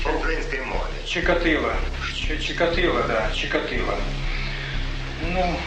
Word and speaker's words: Чикатило: По-украински произносится. По украинской мове. Чикатило.